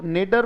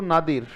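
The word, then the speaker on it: nadir: दो तरीके से बोल सकता है बेटा, या तो इसे बोल दो नेडर, पर सही उच्चारण इसका है, बोलो नादिर.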